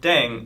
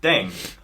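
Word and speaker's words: 땡: playing with language now pronunciation of Deng is similar to Thang yeah which is the slang of thing in English yeah last but not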